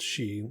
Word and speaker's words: Sidhe: He compares them to something like the Sidhe, and that's pronounced she, think of a banshee, which are beings from Irish mythology that made a deal with invaders from Iberia to divide the land.